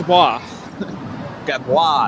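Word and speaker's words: Gadbois: it right this time gab boy but you you did it French right Gad gabwa that's right gab I don't even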